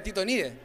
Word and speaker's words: Titonidae: Y por otra parte tenemos a los titónidos, o la familia de Titonidae, ¿ya? Así es como se pronuncia ese nombre en latín, y aquí el único representante que tenemos a nivel nacional vendría siendo la lechuza.